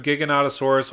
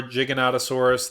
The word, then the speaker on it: Giganotosaurus: first discuss the Grim Giganotosaurus or Giganotosaurus there's multiple ways of pronouncing it but for five green